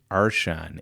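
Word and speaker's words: archon: He's It's the eminent Arshan. A R C H O N. I can't hear him pronounce that.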